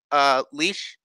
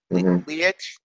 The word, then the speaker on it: Leitch: How's it pronounced? Leitch. Leitch.